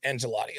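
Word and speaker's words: Ancelotti: done deal everybody knew angelotti was going to leave oh I pronounced that incorrectly it's angelotti okay my bad angelotti was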